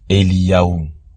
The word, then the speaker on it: Eliyahu: On voit que dans ce mot, on retrouve le Yod, le He et le Vav qui se prononcent Eliyahu.